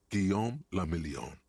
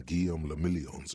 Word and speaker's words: Guillaume le Million: Guillaume le Million. I mean, If it doesn't rhyme, You're not pronouncing it right.